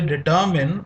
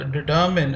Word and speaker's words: determine: These are words are called determiners because they determine or fix the meaning of a noun. This word determine is sometimes pronounced as determine, and that is wrong.